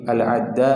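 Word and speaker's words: العدّاء: haudah ini sahabat nabi bifathil Ain almuhmalah waasdiduddal jadi cara pengejaannya sudah dijelaskan oleh ulama cara bacanya sudah dijelaskan oleh ulama bifathil Ain ainnya fathah tasdidud Dal dalnya itu tasdid adal Al muhmalah adal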